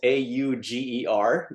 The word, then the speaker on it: Auger: It's one of those weird French names that sounds nothing like it's spelt. It's spelt A-U-G-E-R, but pronounced Auger.